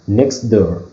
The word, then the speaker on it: next door: For example, next door, next door. So T is not pronounced. Is not pronounced here.